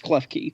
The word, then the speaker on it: Klefki: It's Klefki, by the way.